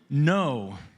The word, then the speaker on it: Ngo: San Jose, California with 16, Nam No. That's NGO, like, I think it's pronounced no.